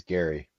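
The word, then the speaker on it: Gerry: Now pronounced Jerrymander. It is Gary. Well, him. We're gonna pronounce his name incorrectly if he's going to do this Eldridge Jerry or Eldridge Gary, whatever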